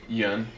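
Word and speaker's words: Yeun: Yun.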